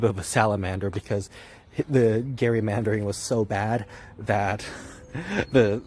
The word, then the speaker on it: gerrymandering: So pronounce it right, it's called gerrymandering, and let everyone know.